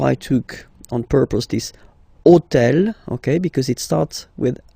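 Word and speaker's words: hôtel: took on purpose this otel okay because it starts with Ash but remember that in French we don't pronounce Ash okay so basically the first sound of the word is the vowel o okay so for the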